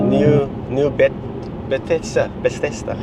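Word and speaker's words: Nieu-Bethesda: How do you pronounce the town we were at? Is it a Dutch name? The new Bethesda. New Bethesda, eh? New Bethesda.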